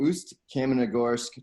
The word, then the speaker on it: Ust-Kamenogorsk: Yeah, so it was called Ust-Kamenogorsk Torpedo.